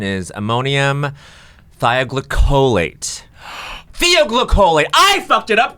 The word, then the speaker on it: thioglycolate: Elwood's pronouncing it ammonium thioglycolate when the pronunciation is ammonium thioglycolate.